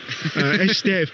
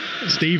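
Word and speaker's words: Estève: Estev being the proper pronunciation, of course, but Steve will do.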